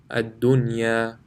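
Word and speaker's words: الدُّنْيَا: However, here, after nun sakin, the ya is in the same word, so there will be no ghunna. Bunyanun, sinwanun, qinwanun, ad-dunya. So in these 4 places, in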